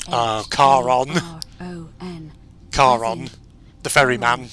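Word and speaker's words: Charon: with a coin just as you described it pronunciation is a little off the name you heard wasn't Karen it was C A Car on car on the ferry man yeah the river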